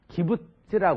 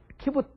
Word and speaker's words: 키부츠: 근데 기부츠라는 것은 이제 그 이스라엘 발음으로 하면 키부츠 그래요. 근데 우리나라만은 그냥 기부츠 그래가지고 뭐 어디 다리가 부러져가지고